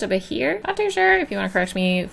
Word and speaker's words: Behir: to create a monster I think it's pronounced over here I'm sure if you want afresh me feel free to in the comments below but I'm just gonna be calling it over here cuz that's what I